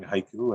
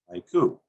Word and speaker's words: haiku: The word haiku itself, we count it as 2 syllables, haiku. But in Japan, it's counted as ha-iku, 3 sounds.